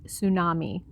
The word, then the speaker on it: tsunami: but we don't tu sunumi is pronounced tsunami getting this wrong will instantly give away that you're not a native so we'll say in